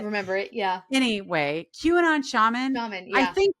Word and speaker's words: QAnon: like I forget how to say it, Quanon shaman. How QAnon.